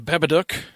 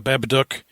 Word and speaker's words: Babadook: This episode we are talking about the Babaduk or the Babaduk, however you want to say it. In the in the movie they pronounce it. The Babaduk.